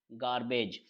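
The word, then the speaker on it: garbage: है जी ए आर बी ए जी ई गार्बेज गार्बेज के लिए हम देखते हैं कि जी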